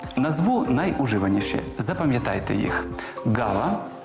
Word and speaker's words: ґава: г Із звуком Ґ назву найуживаніші запам'ятайте їх гава грунт агрус ґнок ґдзик ґгнути грати гуля і